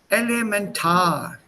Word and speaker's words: elementar: Die Übereinstimmung, elementar. Elementar, not elementar, elementar.